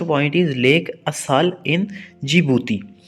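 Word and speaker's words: Djibouti: और अफ्रीका की जो सबसे नीचे का जो एरिया है, यानी Africa lowest point is lake असाल इन जिबूती। इसमें डी साइलेंट है, इसको जिबूती पढ़ते हैं।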